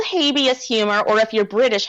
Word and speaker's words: Habeas: So then I kind of kick myself a little bit when I say habeas, because that is definitely the American lawyer pronunciation of it. But in my head, I'm like, habeas.